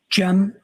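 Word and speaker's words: Cem: Jen.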